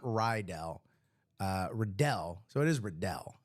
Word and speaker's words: Riddell: Is it Rydell or Riddell? I always say it like Rydell High from Greece, because Greece is the word.